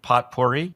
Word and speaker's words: potpourri: What is psychotic potpourri?